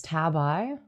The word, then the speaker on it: tabi: Oh, it's it it's it's tabi. It's tabi. So, they're just pronouncing it wrong.